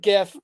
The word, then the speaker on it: GIF: the market down podcast do not pronounce it gif okay we're not 12-year-old morons okay uh we say GIF James the man who